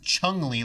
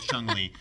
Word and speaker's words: Chun-Li: why waste the time Lisa didn't pronounce it chun-li like I knew when I was a kid I named it Chumlee I don't know Oh